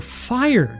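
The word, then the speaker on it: Phyre: It's spelled P H Y R E. You are fire, guys.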